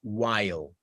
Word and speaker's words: while: Pero luego viene otra vocalcita chiquitiquitica antes de la L, while, while. ¿Sí? Efectivamente, aquí entre la I y la L hay una pequeña vocal y esto aquí no se pronuncia porque ya la pronunciamos con la I.